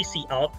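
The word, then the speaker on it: cout: S gramar jadi Eh ini cara bacanya sih see out gitu kan Tapi kalau kalian mau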